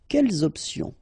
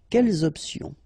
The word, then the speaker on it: quelles options: Option is starting with a vowel, you should make the liaison between the two. Quelles options? Quelles options?